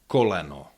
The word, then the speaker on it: koleno: Yeah you have coleno which contains three vowels and they are pronounced fully. Oo co. Yeah, there's no uh there's no diminishing quality of the vowels in unstressed syllables.